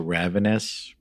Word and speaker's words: Ravines: I mean, how do you pronounce it? Ravenous? Well, there's Ravine? Ravines. Ravine. Yep. There's Ravines.